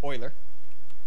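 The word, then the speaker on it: Euler: of those okay so Vector 3 uler angles Oiler Oiler okay yeah yeah uh European name I'm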